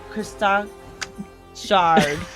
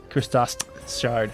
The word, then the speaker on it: Christos shard: in the the christ christ shard say it one more time the christ that's close we'll give you a c minus okay uh how do you say it christos shard okay everyone else try come